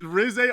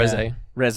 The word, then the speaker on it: Reze: It's closer to the Japanese name. pronunciation of the name. Yeah. Reze.